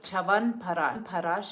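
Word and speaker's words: Chyawanprash: Chavan Parash is wonderful.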